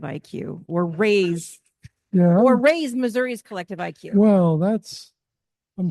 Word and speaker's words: Missouri: or raise or raise Missouri's Collective IQ well that's I'm sure our friends from Missouri would be very unhappy to hear you Cas in point who pronounces a state ending an i as Missoura I never understood that